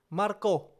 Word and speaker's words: Marko: they pronounce it wrongly it's not Maru Marco Marco that's how you pronounce my name so I was pretty